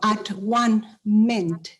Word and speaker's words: atonement: Quiere decir volver a ser uno, at one meant. Volver a ser uno. De hecho, así se pronunciaba hace muchos años. Hace cientos de años se pronunciaba de esa manera, atonement. Volver a ser uno.